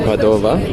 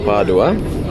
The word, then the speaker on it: Padova: We are currently on the bus to Padova, or Padua, depending on how you say it, where you're from.